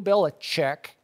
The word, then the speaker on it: Belichick: into his lap Bill Belichick chick its chick actually Jay chick it seems okay but that's the